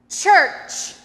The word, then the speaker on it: church: Many people say church with a a sh sound instead of two ch sounds. There's a ch sound at the beginning and at the end.